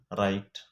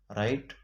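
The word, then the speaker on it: write: دا ډبلیو د جملې په شروع کې د آر نه مخکې نه تلفظ کیږي. اگزامپل: رایټ، رانګ. دې کې ډبلیو سایلنټ، ډبلیو نه ویل کیږي. رایټ، رانګ. ډبلیو پکې سایلنټ دی.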